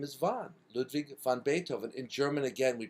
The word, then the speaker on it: Beethoven: word after that bethoven the th is a t sound Beethoven is how we say